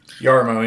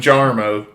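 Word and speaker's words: Jarmo: Yarmmo. Yeah. I was the one that uncovered that mystery cuz everybody kept calling him Jarmmo.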